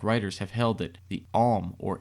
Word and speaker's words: Aum: it the arm or AUM pronounced arm is the oldest omnific name of God in the world that it came out of India and that it has also been spelled a om but pronounced the same way Frank C Higgins has